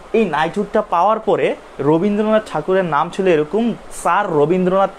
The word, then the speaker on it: ঠাকুর: আমরা তো ঠাকুর বলি, বাট ইংলিশে তারা আসলে ঠাকুর উচ্চারণটা পারে না করতে, ঠিক আছে? তো এই কারণে আসলে তারাই, তোমার মনে করো ব্রিটিশ যারা আছে তারাই নামটা ট্যাগর দিছে।